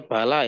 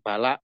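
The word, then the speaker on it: بلى: ya harful istifamib Kir Insyaallah bacanya bala ya jangan bala nanti bala itu musibah ya saya paham itu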